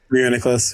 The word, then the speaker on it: Reuniclus: Reuniclus, yeah.